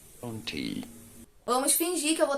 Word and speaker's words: Brontë: A pronúncia correta é a seguinte. Brontë, Brontë, Brontë, Vamos fingir que eu vou estar falando desse jeito Brontë.